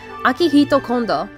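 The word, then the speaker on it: Akihiko Kondo: In Japan, there is a man, and forgive me if I pronounce his name wrong, but his name is pronounced Akihito Kondo, and he is actually married to Hatsune Miku, with a proper wedding, with 39 guests to be exact.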